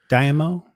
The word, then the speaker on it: daimyo: Daimyo. And I think that's the way they pronounced it in the show.